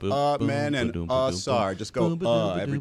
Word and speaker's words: Amen: I picked the game just so I can tell Dan Le Batard how to pronounce Amen Thompson. It's Amen and Sar.